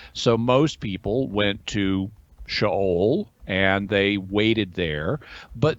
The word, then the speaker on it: Sheol: Now, you'll hear some people mispronounce it as Sheol, but it's not. In Hebrew, it's Sheol.